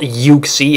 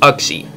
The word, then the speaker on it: Uxie: the games pronounce it if you were supposed to pronounce it yuxie there would have been a y in front of the U so it's axie not yuie yuie just sounds dumb